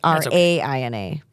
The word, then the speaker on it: Raina: Now, we did Americanize her phonetic spelling of her name. So it's Raina. But who cares? That's how you pronounce it.